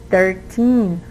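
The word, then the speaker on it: thirteen: see but if the numbers end in 18 as we see here 13 14 15 right from 13 to 19 the stress is in the last syllable so it's in the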